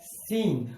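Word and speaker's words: scene: एस निकाल रहा है, तो हम इसे लिखते हैं सीन। और यहां पर सी होता है साइलेंट।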